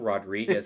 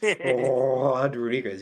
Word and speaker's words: Rodriguez: Whereas like Latino people know, it's it's not Rodriguez. It's Rodriguez. You got to do like the Chewbacca before you say it.